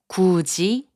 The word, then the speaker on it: 굳이: 굳이, which means obstinately, is pronounced as 굳이.